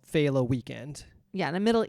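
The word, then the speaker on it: Féile: It's pronounced Fela is the Irish term.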